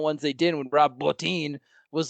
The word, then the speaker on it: Bottin: So, Rob, is it Bottin or Bottin? Do you guys know how to pronounce his last name? I'm pretty sure it's Bottin. Yeah. Okay, so Rob Bottin for le poulet français.